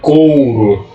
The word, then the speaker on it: couro: Essas palavras, por exemplo, dinheiro, coqueiro, couro, na fala, na linguagem falada, a gente não pronuncia o U. Né? A semivogal U ela é suprimida. A gente não fala o U. Olha só, a gente fala couro.